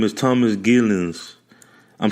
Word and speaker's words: Geelens: His name is Thomas Geelens.